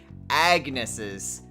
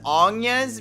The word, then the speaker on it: Agnes: it was anya's because saying agnes always just doesn't sound right to me even though i know that's generally how people pronounce that because it doesn't have the little accent mark but makoto's trip says agnes so even though i want to say anya is like in bravely default that's not how they pronounce it so i'll i will just use their pronunciation sucks though anyway makoto's